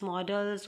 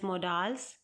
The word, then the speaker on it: modals: So modals are also pronounced as models. Both pronunciation are correct. You can pronounce it as models or you can pronounce it as modals.